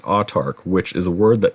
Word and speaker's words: Autarch: Now, the name of this is pronounced autarch, which is a word that means a ruler who has absolute power.